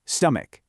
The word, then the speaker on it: stomach: Usually in English, c h makes a ch sound, like in cheese or chat, but definitely not here. Here, it makes a hard k sound, stomach.